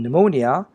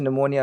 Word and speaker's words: pneumonia: urine well of course in pneumonia p is silent hi everybody it's Ryan